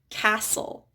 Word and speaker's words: castle: We also have silent T's in some common words like castle.